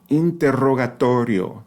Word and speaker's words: interrogatorio: Y to the a letter Y to a rolled R inter the first one right the first set of double RS the the double r letter interro interrogatorio the last one is a single flap let me read that